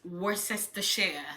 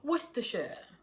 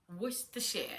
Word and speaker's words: Worcestershire: you will have is Worcestershire sauce. But the proper pronunciation of that word is Worcestershire. Worcestershire. You do not worry about the consonants and the vowel in the middle.